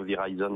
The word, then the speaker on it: Verizon: Verizon, moi je le prononce à la française, ils sont en train